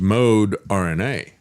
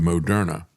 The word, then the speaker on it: Moderna: As a matter of fact, the way they initially pronounced their name was mode RNA and then they changed the pronunciation to Mona.